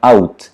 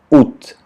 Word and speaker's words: août: O A não se pronuncia. Só tem sotaques como no nordeste da França, onde eles vão pronunciar août, mas no francês padrão vai se pronunciar août.